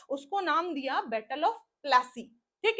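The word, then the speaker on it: Plassey: फूल कहा जाता था इस वर्ड से ही नाम निकला है प्लासी आधा पा प्लासी ठीक है ये अंग्रेजों की दिन थी इस नाम को बिगाड़ कर उन्होंने प्लासी कर दिया ठीक है पलाश होना चाहिए क्योंकि पलाश के फूल से ही वो वर्ड बना था लेकिन प्लासी कर दिया गया ठीक है तो ये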